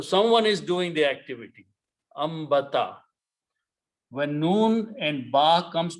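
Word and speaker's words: أنبت: Ambata. When noon and ba comes together, noon is written, but it is pronounced as a meme.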